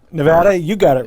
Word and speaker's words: Nevada: home for me am i saying it right nevada you got it right right there was no